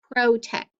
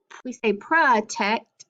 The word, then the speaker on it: protect: No, we say protect, and July is usually how we pronounce it. So the O and the U can make the schwa sound if they are open and unaccented, okay?